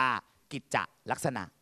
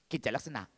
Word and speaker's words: กิจลักษณะ: หรือ ไม่ ควร มี ถ้า มี นะ มัน จะ เคาะ จังหวะ ตรง กลาง ออก เสียง โดย การ เว้น จังหวะ ตรง กลาง นิด นึง จะ อ่าน ว่า กิจลักษณะ แต่ ถ้า ไม่ มี จะ ออก เสียง ต่อ เนื่อง อย่าง รวด เร็ว นะ ครับ เ เรียก ว่า อ่าน แบบ เสียง เนื่อง กิจลักษณะ หนู คิด ว่า คำ